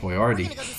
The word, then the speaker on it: Boyardee: __ ] up Chef Boyardee charity not Chef Boyardee Chef Boyardee the USA you know technically chef where they already spelled his name wrong intentionally so people would actually pronounce it right Artie ah chef